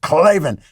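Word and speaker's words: Klavan: we sent you and say clavin that way so you got to stick to it clavin and then you got to spell it k-l-a-v-a-n so as you know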